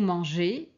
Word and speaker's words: mangez: Vous mangez. Alors ici, ce sont pas des lettres muettes, mais on prononce pas EZ séparément. C'est-à-dire, on prononce pas le Z en fait, on prononce et EZ c'est E. Vous mangez ils aim.